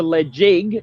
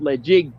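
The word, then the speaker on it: Ledaig: touched if you touch the led jig it's pronounced legit before the if you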